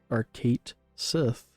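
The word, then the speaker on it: Cait Sith: His name is pronounced as Kate Sith for Rebirth.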